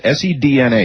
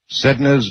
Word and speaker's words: Sedna: I would pronounce this S-E-D-N-A, Sedna, after the Inuit goddess of the sea.